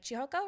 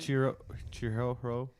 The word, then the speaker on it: Chihiro: It starts out like Chihoko, right? Is that how you pronounce her name?